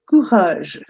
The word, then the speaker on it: courage: The word is courage. You pronounce it as courage.